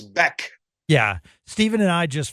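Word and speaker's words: Bäck: Same with Oscar Beck, even though it's spelled back. Yes. It is Beck.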